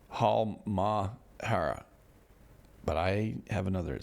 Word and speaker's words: Halmahera: In Halmahera, occasionally above average explosions continue. They're saying as well, it's above average explosions. And both Ibu and Dakota there on Halmahera. I know what it's Halmahera, but I have another syllable and I added it.